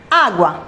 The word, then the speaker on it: agua: or intensity for example agua begins with a sound ah and this is the syllable that has the accent agua agua two this noun belongs to